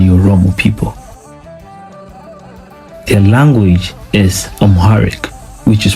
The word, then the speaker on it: Amharic: The word Amharic is pronounced Amharic, and it is widely spoken in Ethiopia today.